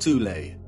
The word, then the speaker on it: Thule: called the soul society sometimes alternatively pronounced tulay that had sub-factions within